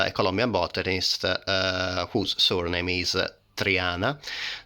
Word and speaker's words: Triana: So in English language we pronounce it as Triana, and in the Latin, translated in Latin, then was put as Trianae, so Cattleya of Triana, but should be present with an I at the end, so should be written